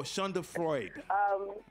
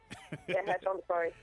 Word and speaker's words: Schadenfreude: How do you pronounce that word again? Oh, Shonda Freud. Schadenfreude. Right.